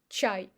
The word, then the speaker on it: чай: And the last example is чай. If even ch is followed by a, ch is always soft consonant. That's why we pronounce a as ya, чай.